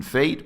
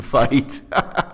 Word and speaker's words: Feight: I mispronounced his name Fate, but that's me. His preferred pronunciation is Fight.